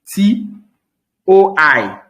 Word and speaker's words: toi: When you see T-O-I, T-O-I, how are we going to pronounce T-O-I? Who wants to speak? T-O-I. How will it be pronounced? Toi.